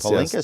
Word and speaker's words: Palinkas: Miss Palinkas, am I pronouncing it? Palinkas, yes.